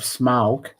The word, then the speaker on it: Smaug: Part 2, The Desolation of Smaug. That's how you pronounce it, Smaug.